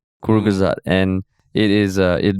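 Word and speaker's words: Kurzgesagt: a pronunciation link to the thing and it's pronounced kur gazat kuru gazad and it is uh it means shortly said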